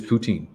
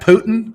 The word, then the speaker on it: poutine: Poutine. You got to be really careful how you say it, but it is poutine.